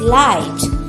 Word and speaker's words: light: Okay, another rhyming word of fight is light. Can you pronounce that? Say along with me children. Light. GH remains quiet.